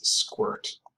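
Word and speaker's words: sqrt: And it's very common to pronounce this as squirt, which is just a really hilarious opportunity to be able to use the word squirt in math class.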